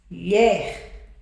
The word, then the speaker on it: mulher: Mu mulher. São duas sílabas. Mas qual é a mais forte? Você chama mulher ou mulher? Tá vendo que mulher é mais forte? Essa é a sílaba mais forte. sílaba mais forte. Essa sílaba mais forte é a última. Se a última sílaba mais forte, tá vendo? Ela é uma oxítona.